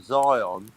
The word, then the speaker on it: Zion: He's got a great theory about Zion. Apparently, it rhymes with lion.